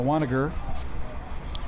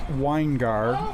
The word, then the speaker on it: Weingard: Now Weiniger. Weiniger will get it back. Actually, I think it's Weingard, if I follow my pronunciation guide, so try to change that there.